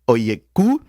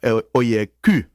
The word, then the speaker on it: Oyeku: L'autre invité que nous gagnons c'est le docteur Suzette Oyeku. Am I saying it right? If it was for French, I would say for Oyeku, but c'est Oyeku.